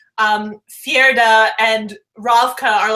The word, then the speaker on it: Fjerda: Like we wouldn't know why like Fjerda and Ravka are like so like in war against each other and like how much how do you say it? Fjerda? Fjerda? Yeah, that sounds great.